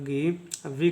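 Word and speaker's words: give: आई का उच्चारण होगा ई तो हो जाएगा गी व का उच्चारण होगा व इसको पढ़ेंगे गिव इसको पढ़ेंगे गिव ठीक है अब नेक्स्ट देखिए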